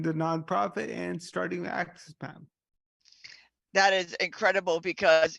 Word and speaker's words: AXS: of the access so when I say access is spelled AXS so when we're talking